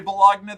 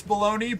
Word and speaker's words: bologna: I also say bologagna that way but it's because I'm autistic. I read it once and I know that it's bologn, but it upsets me that it's spelled the way that it is.